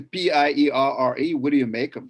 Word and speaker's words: Pierre: pierre right and so what would it say p-i-e-r-r-e what do you make of that pierre i've